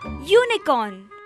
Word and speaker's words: unicorn: We use a before some words that start with U, but the opening sound is that of a consonant Y. Example, a unicorn.